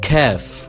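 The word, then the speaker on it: كاف: Then we have Kaf, which is a lot lighter than Qaf.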